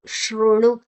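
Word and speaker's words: शृणु: ದ ಮೊದಲೇ ತಕೊಳ್ಳುವ ಮೇ ಶೃಣು ಮೇ ದೀರ್ಘಾಕ್ಷರ ಶರಣು ಶು ಮತ್ತೆ ಋ ಶೃಣು ಶ ಅಲ್ಲ ಅದು ಶು ಶೃಣು ಶೃಣು ಶು ಶೃಣು ಶು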